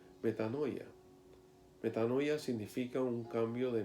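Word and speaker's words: μετάνοια: expresa la renovación de nuestra mente es pronunciada pronunciada metanoia metanoia significa un cambio de manera de pensar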